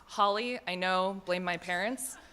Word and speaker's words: Halley: and just for clarification the pronunciation is Holly I know blame my